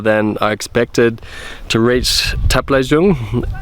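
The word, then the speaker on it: Taplejung: Um, it's taken me a lot longer than I expected to reach Taple Jung, not Tapel Jung like I pronounced it in the beginning. I've learned now that it's called Taple Jung.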